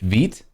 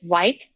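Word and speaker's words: Vite: work with uh with veet i hope i'm pronouncing the name of that project properly you are absolutely correct people always name it white when it's fit and i have no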